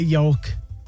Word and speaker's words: yoke: but gosh 5050 I know I know a yoke why would it be Yol why would meall